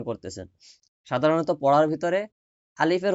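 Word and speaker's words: ألف: হরফের প্রথম হরফের নাম আলিফ। আমার সাথে সাথে বলবেন নাম আলিফ। আলিফ আলিফ। আলিফ সরে ল এর রশি ফ। লাস্টে একটা ফ উচ্চারণ হবে।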